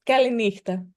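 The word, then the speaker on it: καληνύχτα: Um, Kalispera and the good night word I don't know how to pronounce. It's Kalina. Kalina.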